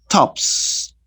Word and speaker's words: tops: Now, for example, when you say top, tops, you pronounce the letter S as it is, no? S, s, tops.